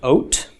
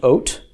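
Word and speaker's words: וֹת: um Val followed by Tov pronounced oat okay in this class I'm always going to write a full column which is means a whole one Val including the valve however you will see this suffix with just a Coulomb valve and no love it's still pronounced exactly the same still pronounced oat still means the same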